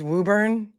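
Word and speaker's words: Woburn: Wuburn. Come on. Is it really Wuburn? It's Wuburn.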